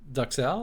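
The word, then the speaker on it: duxelles: It is duxelle. That's how you say it.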